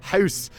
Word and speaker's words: Gous: So in the books, it's Andrees Gous, as H.D. Ackerman told me to correctly pronounce it.